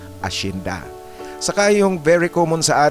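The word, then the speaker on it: hacienda: Ngunit ang pagbigkas niyan sa Espanyol ashinda.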